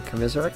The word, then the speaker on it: Komisarek: And it'll be taken away by Komisarek. That's how you pronounce it.